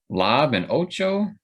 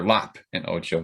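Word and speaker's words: Lop & Ocho: The Elder, Lob and Ocho, or Lop and Ocho, excuse me, and Akakiri.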